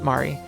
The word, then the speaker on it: Mari: But in Japanese, wouldn't it be pronounced Mari? Mary, the woman he was cheating with? Was her name Mary? No, she sure had colorful hair, but wasn't from overseas. Oh, okay, so it is Mari.